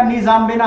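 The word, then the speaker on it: N'Djamena: चाड, चाड का निजामबेना है। अब इसको ऐसे पढ़ेंगे, एन साइलेंट हो जाएगा, डी भी साइलेंट हो जाएगा, जामिना पढ़ सकते हैं।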